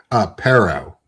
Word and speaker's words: Pero: Pero. Sparrow. Like sparrow without the S. Yeah. Okay, cool. Or parrot without the T.